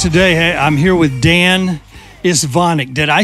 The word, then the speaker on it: Istvanik: Okay, guys, today I'm here with Dan Istvanik. Did I say that right? Pretty close. Istvanik. And I heard some guys pronounce it.